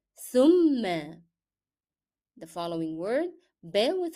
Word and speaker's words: ثم: So here we have fatha above shadda and we need to stress on mim because it is a shadda letter now. How to say the word? ثم. ثم.